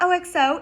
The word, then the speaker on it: OXO: It's not OXO, it's OXO.